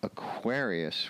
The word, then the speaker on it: Aquarius: But Aquarius, going from Aquarius, where the accent is on the second syllable, to the Aquariids, accent on the first syllable, that's a little bit of a jump.